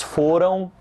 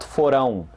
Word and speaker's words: foram: Pay attention to the stress, which is on the first syllable. Foram, and not forão.